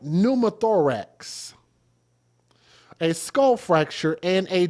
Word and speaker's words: pneumothorax: How do you pronounce pneumatics? Numaththorax. Oh, pumathorax. Thank you. Thank you, Google. So, a right pneumothorax, a skull fracture, and a deformed skull.